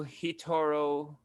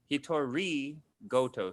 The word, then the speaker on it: Hitorigoto: reading is called uh kisuriya no hitoro hitori goto sorry i mispronounced that hitoro part uh the english